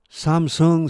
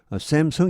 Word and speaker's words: 삼성: 사람들이야 연구 삶도 마찬가지입니다 샘 성 이렇게 바로 많이 하죠 이게 삼성이 잘 안되더라고 보니까요 아직까지 저는 미국 사람이라 이러구 사람 중에 삼성으로 이렇게 발음 해주는 사람을 아직까지는 에 본 적이 없습니다 다음페이지 2차 애널 수색